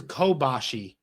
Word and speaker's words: Kobashi: named cool i'm sorry this is kobashi that's kobayashi okay sorry yes i said it wrong kenta kobashi and then kobayashi is a different one kenta kobashi he was